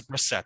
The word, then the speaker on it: Brissett: Oh, I'm sorry. This is Brissett. I forgot it's Brissett.